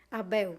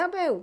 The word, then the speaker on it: Abel: Abel. Abel.